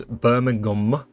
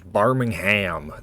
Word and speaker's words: Birmingham: i the two cities there's birmingham the uk place and then there's barmingham the city in alabama same spelling different pronunciation uh mobile mobility okay